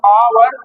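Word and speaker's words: hour: इसको आप पढ़ो आवर, तो आ पहले आ रहा है क्योंकि एच साइलेंट होता है, इसलिए आ कस में आ गया इसमें, इसलिए इसमें एन लगा है।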